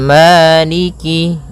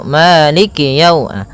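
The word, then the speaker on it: مالك: Kemudian kaf di sini ada huruf kasrahnya maka sempurnakan kafnya jangan seakan-akan diputus. Misalnya Maliki yau, Malik yau. Jadi kemudian kasrahnya juga disempurnakan. Jangan sampai dibaca dengan e tapi dia i Maliki maiki yaumiddin.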